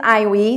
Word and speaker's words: Aihui: uh my name is I we just remember I and we that's how you pronounce